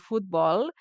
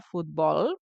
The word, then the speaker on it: futbol: Recordem només la paraula futbol, que la pronunciació és a l'última síl·laba, futbol, perfecte.